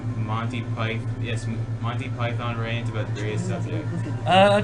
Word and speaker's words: Python: It's Monty Python. Python, not Python, Python. And you might say, but we say the animal python. No, because it's a name, alright? You have to say it properly.